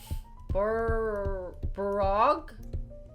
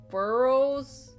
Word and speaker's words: Burroughs: How do you pronounce this name? Burrog? I had to learn Cobol in uni because it was in curriculum. Burroughs.